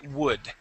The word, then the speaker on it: would: word would okay um now that that word that has an l in it right okay you would say okay pronouncing that l um that l is going to be silent in the world in in that word okay we would say would okay i would say world